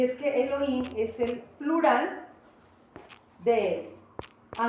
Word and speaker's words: Elohim: importante y es Elohim Elohim se escribe con h intermedia y podríamos pronunciarlo algo así como Elohim Elohim es el plural